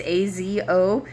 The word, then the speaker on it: Azotus: It's A-Z-O-T-U-S. Azotus, that's how I would pronounce that, and traveled about preaching the gospel in all of the towns until he reached Caesarea.